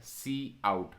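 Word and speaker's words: cout: is point number one see how it is pronounced as c out okay c out okay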